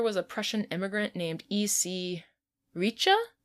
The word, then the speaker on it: Reiche: Some people say that the inventor was a Prussian immigrant named E.C. Reiche, I think is how you say it. R-E-I-C-H-E.